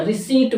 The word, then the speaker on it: receipt: रिसीट होता, रिसीट, रिसीप्ट, यानी कि रिसिप्ट वर्ड नहीं होता, ध्यान रखें। जो किसी भी बिल की पर्ची दी जाती है उसको रिसिप्ट नहीं बोला था, रिसीट बोलते हैं, ध्यान रखें। रिसीट, RECEIPT को P साइलेंट होती, ध्यान रखें।